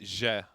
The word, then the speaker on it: Zie: ZIE like Zangief? No, you pronounce it Je.